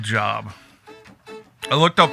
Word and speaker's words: Job: Believe it's pronounced job.